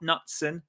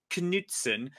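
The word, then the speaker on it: Knutsen: Bookies favorite and uh that is Knutson not Knutson Knutson from Bodo glimped um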